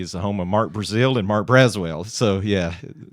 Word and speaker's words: Brazeal: correct people it's not Brazil the country It's Brazil z-e-a-l and it may be the first time they've spelled it like that so of course get out of your nerves yeah usually it's uh pronounced Brazil so Mark Brazil yeah yeah uh interesting uh